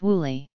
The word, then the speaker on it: Willie: Although he was known as Bill throughout his football career, his name in the family was Willie, pronounced Wooly.